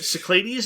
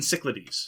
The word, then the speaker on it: Cyclades: it in the video so I've heard Cyclades and cichlidies so those are the two pronunciations I've heard but again you know